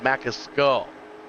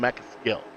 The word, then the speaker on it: Mascull: And I'm I'm being told MKL 802 tells me it's pronounced Mascull, not measil.